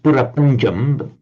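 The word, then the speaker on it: பிரபஞ்சம்: prapancha in Tamil, and he said yes, it's pronounced purapanjam, essentially the same word in Tamil, but in Tamil it means creation, as in divine creation.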